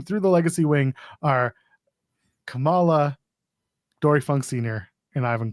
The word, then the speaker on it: Kamala: I couldn't pronounce Kamala and Camala. So, I had to be like, which one is the right one? In this case, it's Camala. The wrestler is Kamala. The politician was Kamala.